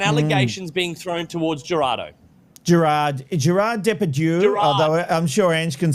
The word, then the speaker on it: Gérard Depardieu: It is Gérard Depardieu.